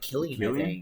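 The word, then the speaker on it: Cillian: Murphy yeah I no they say it like Killian yeah but it's spelled like San he acted his butt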